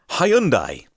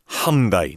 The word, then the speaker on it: Hyundai: this is a massive sidebar apologies we say hi Hyundai and I that pretty much the way that it's pronounced in most parts of the world is